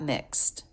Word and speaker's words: mixed: Maybe it got mixed. Maybe it got mixed up. Here the ED ending is pronounced as a T because the sound before was unvoiced.